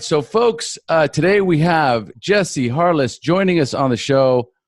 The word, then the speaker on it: Jesse Harless: So folks, today we have Jesse Harless joining us on the show. I'm pronouncing that correctly, right?